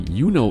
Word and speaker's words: Juni: For similar reasons, some Germans will also say Juli instead of Juli for the month of July, and will say Juno instead of Juni for the month of June, just to make those 2 months phonetically distinct from each other as well.